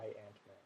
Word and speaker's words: Giant-Man: Giant-Man. Yeah. You have to separate the syllables. Giant Man. J-Y and then Ant-Man.